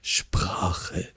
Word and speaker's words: Sprache: Does someone want to like try to pronounce it here? Yes, Sprache, Sprache, Sprache.